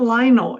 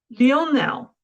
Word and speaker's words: Lionel: his first name right it's not Lionel it's Leonel am I saying right messy and um and